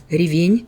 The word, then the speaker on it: ревень: Говорю здесь правильно, делаю ударение именно на последний слог ревень.